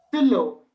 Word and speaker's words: stylo: So okay, whenever you're pronouncing I and whenever you're pronouncing Y, put as many e's as you can. Okay, not in the spelling but in the pronunciation part.